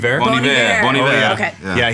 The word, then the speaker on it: Bon Iver: more recently, I don't even know how to pronounce his name. Is it like Bon Iver? Bon Iver.